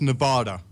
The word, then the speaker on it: Nevada: I swear to Christ, Pi, if you don't start saying it right, we're going to have issues again, dude. I invented the word. It's Nevada.